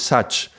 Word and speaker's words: sach: where Sat, truth, appears, it appears in a different pronunciation, which is Sach, but it's an evolution. It's probably more like a dialectic thing in the north of India, and it means the same, means truth.